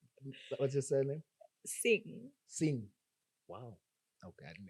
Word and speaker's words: Singh: Sing. that's where the sing comes from. Yeah. Sing. Nice. Is it Sing with the GH? At the, how do you spell it? SINGH, but Yeah. the H is silent.